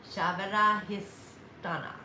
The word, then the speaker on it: Svadhisthana: That is the sacral, and that's Shavada Histhana. Sava. I can spell it for you. SVADHISTHANA. Shavada Histhana.